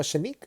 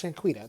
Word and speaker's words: Shaniqua: And Shaniqua, or Shanique, no, it's Shaniqua. That's how, yeah, Shaniqua. That's what it sounds like.